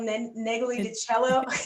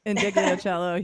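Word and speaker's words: Ndegeocello: And then also I just like, Miss, I'm going to totally say her name wrong, but Michelle Neglidicello. You Yeah. know how to say it, Yeah. Hillary. Indigliocello.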